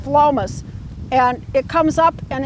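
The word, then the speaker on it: Phlomis: plant called flawless and it spelled pH LOM is and pronounced Philomath and it comes up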